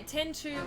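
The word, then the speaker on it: Final Fantasy X-2: Yeah, 10-2 was how it was usually pronounced.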